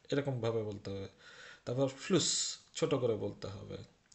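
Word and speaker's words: Fluss: না এটা শিফ এরকম ভাবে বলতে হবে তারপর ফ্লুস ছোট করে বলতে হবে তো সেটাই এখানে শিখানো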